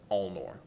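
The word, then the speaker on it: Alnor: sovereign ruler of widow sport is lord walbin ulnor spell that last one all nor a-l-n-o-r wal-bin al-noor donnie would also know he is a he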